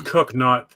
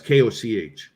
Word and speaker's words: Koch: But it was Cook, spelt with a CH though, wasn't it? Yeah, it's Koch.